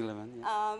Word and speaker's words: Levin: Am I pronouncing the name properly? Yeah, Tony Levin, Who played with Peter Gabriel and Pink Floyd, Peter Lockett, who plays with Bjork.